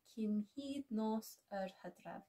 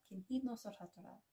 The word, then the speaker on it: Cynhydnos yr Hydref: Cynhydnos yr Hydref. Cynhydnos yr Hydref.